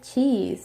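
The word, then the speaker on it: 치즈: It also has the Z sound, but they don't because it's cheese, that's a Z sound at the end. They don't have that sound. So they use the J sound.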